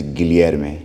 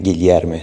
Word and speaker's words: Guilherme: Guilherme is hard to pronounce. It has like the LH. Yeah. LH. So it's like yeah. It's like don't have like this kind of sound in English.